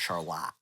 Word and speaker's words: Charlotte: how degenerate it is because it's spelled like Charlotte, Uh-huh. but they call it Charlotte.